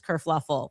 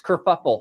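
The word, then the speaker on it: kerfuffle: Everybody who called me so this whole race kurfluffle. Oh no. That's it's kurfuffle.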